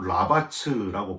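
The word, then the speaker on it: רבץ: 히브리어로 라바츠라고 발음을 하는데요.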